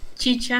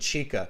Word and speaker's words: chicha: carolina i'm canadian and i kept pronouncing it chica how much how much how much chicha do you think i've